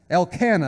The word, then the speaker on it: Elkanah: and then said Elkin elk how do you pronounce that into him Elkanah the other Elkanah her husband to her Hanna